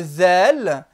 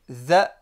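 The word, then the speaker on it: ذ: Le zel, qui n'existe pas dans la langue française. Za, zu, zi. Za, zu, zi, z. Avec le bout de la langue.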